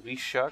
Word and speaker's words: Rixia: Ok, donc tout d'abord on a un event en parlant à Rixia, ou Risha comme il la prononce en japonais.